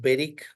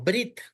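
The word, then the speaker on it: בְּרִית: de la primera consonante por eso decimos beric y no brit perit es pacto segundo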